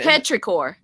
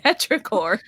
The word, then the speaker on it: Petrichor: betrayed she's obviously man petrichor that's it you want to say petri dishes petrichor but I didn't see her